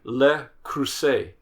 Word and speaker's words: Le Creuset: dash, FAL, Williams Sonoma, Calphalon, CALPHALON, Lodge, and Le Creuset.